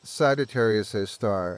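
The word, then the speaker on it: Sagittarius A*: They reside at the centers of almost all large galaxies including our own Milky Way which harbors Sagittarius an asterisk pronounced Sagittarius a star at its core.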